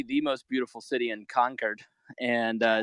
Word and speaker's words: Concord: Conquered. Conquered. That's I was informed at the podcast taping today that is how you say it. It is not Concord. Uh like you know a true a true Englishman should say conquered.